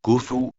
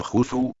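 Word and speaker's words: Khufu: que en su época se llamaba cufu O también pronunciado jufu por ser la mayor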